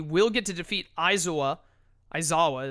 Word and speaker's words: Aizawa: Aizawa is how that's pronounced, I believe, actually, with his ability at the cost of triggering Appeal to Pride, which will let Kidjays move Goku, unfortunately.